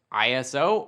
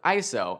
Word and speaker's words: ISO: ISO, spelled out ISO, can be pronounced ISO or ISO, and depending on where you are in the world, you might hear both, and both can be used.